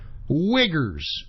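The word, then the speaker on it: Uyghurs: themselves I'm not kidding this is the correct pronunciation wiggers wiggers I'm not joking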